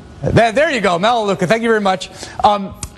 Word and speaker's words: Melaleuca: US Chamber of Commerce and a CEO of mellow Kula incorporated a household consumer products company whose name I may have just butchered that there you go melaleuca thank you very much um Frank it's wonderful